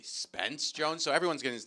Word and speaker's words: Spence Jones: tough day for him everyone's calling him spencer jones his name is actually spence jones so everyone's getting his